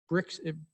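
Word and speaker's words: Birx: do we use dr uh bricks is how you say her name and from the white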